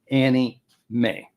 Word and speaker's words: anime: It says also known as anime videos parenthesis pronounced quote Annie May.